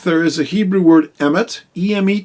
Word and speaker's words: Emet: the word truth there is a Hebrew word Emet eme T it's spelled Aleph mem and Tov and it literally